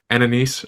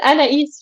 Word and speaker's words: Anaïs: I'm not going to say her name right anaise uh for coming on the show today yes yes annaise yes you you said it perfectly the first